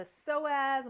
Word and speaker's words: psoas: The psoas muscle, and it's spelled psoas, connects to the inside of your leg.